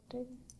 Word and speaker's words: Bottega: Bottega.